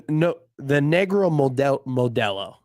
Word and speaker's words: Negro Modelo: Yeah, the Negro Modelo. Pretty elite. Thank you for pronouncing that correctly.